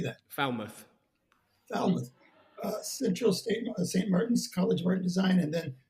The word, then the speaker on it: Falmouth: Falmouth.